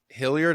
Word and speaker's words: Hilliard: uh today we're talking uh with author JV hilard am I saying am I pronouncing that right you are all right uh